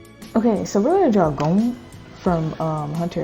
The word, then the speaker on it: Gon: So I don't know how people pronounce his name, but I know like if you pronounce it more in Japanese, it's kind of like Gung. But like, look, we're going to draw him.